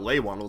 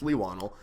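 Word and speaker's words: Leigh Whannell: I realized I had been pronouncing it wrong for years. It's not Leigh Whannel, it's Leigh Whannel.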